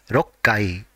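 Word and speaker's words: 六階: for sixth floor and whenever the floor number is ending with six the part corresponding to six has to be pronounced as rokkai for example 26th floor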